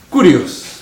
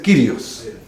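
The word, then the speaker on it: κύριος: Curios. Pero esa letrita que está ahí, la upsilon, se puede pronunciar como I. Así que puede ser curios o puede ser Kyrios.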